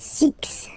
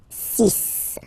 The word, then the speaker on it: six: So you get the sis pronunciation sis sis. Okay. So it's not six, it's sis.